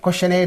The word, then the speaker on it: questionnaire: Similarly, questionnaire is there. This is the suffix. Suffix is getting split here into two.